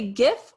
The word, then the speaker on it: GIF: um there are see gif as in gift i guess i'm just gonna have to retrain how to say it i think that's the proper way but so many cool